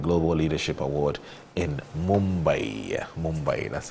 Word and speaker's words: Mumbai: Mumbai, that's how you say it, Mumbai in India.